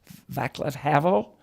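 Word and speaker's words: Václav Havel: ronald reagan uh the czechoslovakia leader havel javier pronounced his name vaclav havel and pope john paul ii and a couple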